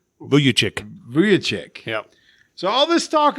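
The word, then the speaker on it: Vučević: Vucevic? Vucevic.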